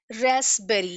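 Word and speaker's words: raspberry: रेस्पबेरी, यहाँ पे ये जो पी है दैट इज साइलेंट, हम इसको रेस्पबेरी नहीं प्रोनाउंस करते, we pronounce it एज रेस्पबेरी।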